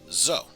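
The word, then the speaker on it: ぞ: notebook now and finally this is zoe or zo you pronounce this as zo right so as normal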